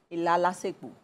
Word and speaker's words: ilalasepo: and she calls it ilalasepo. Ilalasepo. Ilalasepo. Ilalasepo. Ilalasepo. Says ilalasepo. Oh, po. Oh, yeah. Po. The syllable is going off. Okay. Yeah, I got that.